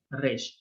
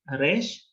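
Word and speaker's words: ר: Van a escuchar que los israelíes lo van a pronunciar en la garganta. Ellos van a decir no Resh, sino Resh. Ajá. Como una R alemana o una R francesa. Ajá, re, re. Sin embargo, está aceptado cualquiera de las dos formas de pronunciación.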